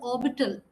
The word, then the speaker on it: orbital: you will find the pronunciation of the word orbital yeah it's R is silent I'm just coming to